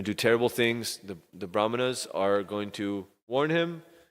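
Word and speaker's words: brāhmaṇas: And the braha brah mahana's and even though the brahana is spelled with a h before the m the h is pronounced after the m because there's a special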